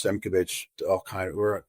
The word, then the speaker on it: Simkovich: If you just type in Simkovich, that's not easy to spell. Why don't we spell that for our viewers? Simkov as in Victor, ICH. Oh, that is easy. It's exactly how it sounds.